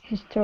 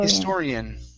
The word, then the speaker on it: historian: next up is historian so our stressed is right here historian historian historian okay make sure to pronounce that H his historian historian all